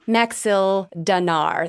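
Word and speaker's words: Maxildanarr: His name is Speaker, and I don't know how to pronounce this, Naerth. Narth? N-A-T... Nearth. Nerth? Nerth. Nerth. Okay. Nerth Maxil Danar.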